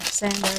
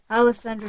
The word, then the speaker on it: Alessandra: Poison Passion by Alessandra Fusi. I think I said her name wrong. I said Sandra, didn't I? That's my mom's name. Not Alessandra Fusi.